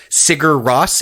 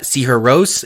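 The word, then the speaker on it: Sigur Rós: circles um cigar Ross if you read their name phonetically some folks might not know uh see her Rose is how you pronounce it but cigar Ross might be how you recognizable for people recognizable if you've only ever seen it written and their whole shtick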